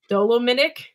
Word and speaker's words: dolomitic: I don't know how do you pronounce that? Dolomitic lime.